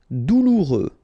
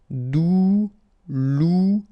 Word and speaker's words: douloureux: Douloureux, remember final X not pronounced, so you get this OU together, ou, douloureux, douloureux.